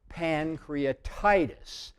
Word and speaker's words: pancreatitis: emphasized is in italics so it's pancreatitis pan is bigger than Cree pancreatitis uh-oh which ones done